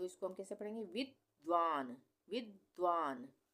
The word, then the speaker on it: विद्वान: विद्वान। विद्वान, इसको हम क्या पढ़ रहे हैं? विद्वान। यहाँ पे वि और फिर द का आधा उच्चारण हो रहा है, व पूरा है ये।